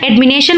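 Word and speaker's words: admonition: देखिए एडमिनेशन इसका प्रोनाउंसिएशन एडमिनेशन होता है।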